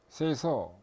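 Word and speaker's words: 清掃: 일본에서 생긴 활동인데 발음이 일본말로 정리는 세이리, 세이돈, 세이소, 세이게츠, 시츠케 이렇게 읽습니다.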